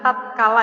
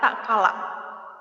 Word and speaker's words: tatkala: Ini bacanya bukan tatkala ya, tapi tak kala.